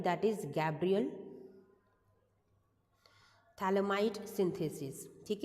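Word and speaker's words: Phthalimide: हैं that is Gabriel थैलमाई synthesis ठीक है थैलमाई के अंदर पीएच आपका साइलेंट होता है इट्स अ थैल इमाइड सिंथेसिस रिएक्शन ठीक है नाम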